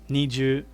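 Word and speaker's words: 二十: so nijusai remember that niju niju is how you say 20.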